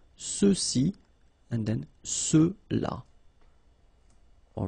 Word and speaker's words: ceux-ci: And then for the masculine plural, ceux-ci, okay, remember final X is not pronounced, so you get the sound ce, ceux-ci, and then ceux-là, all right?